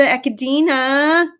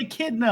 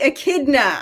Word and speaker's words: echidna: little skin for the echodeena in personal news sorry kristen's signing her up sorry interrupt but it's pronounced echidna i'm a science fan